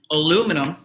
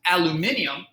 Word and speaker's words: aluminium: organized by those properties all right for example aluminum or as it's per actually properly pronounced aluminium aluminium and silicon until cone silicon they're right